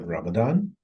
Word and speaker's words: Ramadan: to answer your first question the way it's pronounced it's called Ramadan and the last part which we usually use